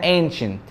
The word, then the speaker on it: ancient: اول ما تلاقي الفاولز دي حرف السي معاها التو فاولز ورا بعض اعرف ان السي دي تتنطق دايما ش، دي اسمها ancient ancient Egyptians ancient ancient.